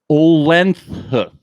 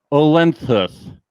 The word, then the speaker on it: Uhlenhuth: This is a hard last name. Olenhuth. It's UHLENHUTH. Nick Olenhuth. I'm sure we'll get a proper pronunciation once the show comes on.